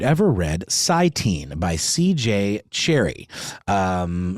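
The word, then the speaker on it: Cherryh: read scenee by CJ Cherry um there a seemingly silent h at the end of cherry but that's how I'm going to say it um if not I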